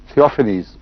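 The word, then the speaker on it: Theophanes: سب سے پہلے حضرت اقدس محمد رسول اللہ پر ایپیلیپسی کا الزام لگانے والا شخص ایک بیزنٹائن ہسٹورین تھیوفینس تھا. تھیوفینیز اس کا تلفظ ہوگا.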